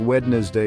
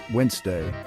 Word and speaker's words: Wednesday: Now, you might think Wednesday is the way to go, and hey, I've been there myself. But hold your horses, folks, because the correct way to say it is Wednesday. Yeah, you heard that right, Wednesday.